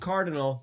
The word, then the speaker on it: CRDL: are trained to become huntresses alongside Team CRDL, pronounced Cardinal, Team JNPR, pronounced Juniper, Team SSSN, pronounced Sun, Sailor Moon?